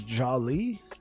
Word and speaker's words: Jolly: right or joli okay is it is it pronounced with a a yah sound or a j sound what you say that's okay okay I got you I got you second one J okay Jolly Jolly br